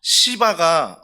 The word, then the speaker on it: 시바: 사랑하는 성도 여러분, 그래서 시바가 이건 발음을 잘해야 됩니다. 발음을요 정말 잘해야 됩니다. 제가 원래 이제 아버님은 경상도지만 또 어머님이 전라도잖아요. 경상도, 전라도 이 두 곳에서 경험하면서 발음이 세요. 그러니까 저는 그냥 시바 읽는데 아내는 자꾸 그걸 욕으로 들을 때가 참 많습니다.